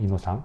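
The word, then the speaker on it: Innocent: 이런 순결한 이런 뜻이죠 요거를 프랑스어로 읽은 프랑스어 발음이에요 이노상 이것도 많은데 이것도이 프랑스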